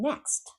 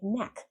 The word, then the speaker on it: next: If you don't pronounce that T in next, you're saying neck.